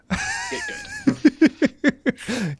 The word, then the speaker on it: GITGUD: It is spelled GITGUD. Get good. Yeah. Like GitHub. That's right.